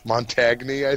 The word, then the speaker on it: Montagne: spelled like Montague no just like a GN at the end of wine that's like it's like champagne Oh champion Champa Champa